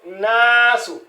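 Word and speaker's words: الناس: Donc obligatoirement cela ne se prononce pas. Donc c'est nasou hein.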